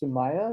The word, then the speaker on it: Sumaya: across uh this woman whose name is i believe pronounced sumaya is that correct yes and uh and she